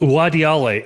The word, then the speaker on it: Uadiale: Owadiale, am I pronouncing your name right?